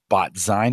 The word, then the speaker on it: BotZine: At your about.me, it says you're an admin at BotWiki, BotMakers, BotZine. Am I pronouncing that right? BotZine, like magazine. Zine. Oh, yes.